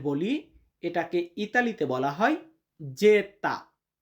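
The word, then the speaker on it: zeta: এবং ইংরেজিতে আমরা যেটাকে জেড বলি এটাকে ইতালিতে বলা হয় যেতা। যেতা মানে জেড।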